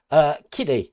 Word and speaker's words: Hachette: Kiddie. It is pronounced Kiddie, is it?